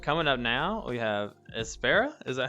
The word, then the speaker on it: Espera: And coming up now, we have Espera. Is that how you say it? Espera, right? Yeah. Espera, but people say it 1,000 different ways.